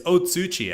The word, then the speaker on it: Otsuchi: we are on the Uchi Castle interesting Uchi Castle it's otsuchi actually yeah it's Uchi I've